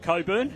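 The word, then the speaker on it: Cockburn: Against Coburn, and for those of you listening nationally, the CK in Coburn is silent, which is a great relief to us all, really.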